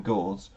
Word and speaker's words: Gauss: Gauss has to be pronounced German.